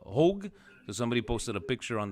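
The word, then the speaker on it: Hauge: the way uh uh supposedly his last name is uh is pronounced uh hogue somebody posted a picture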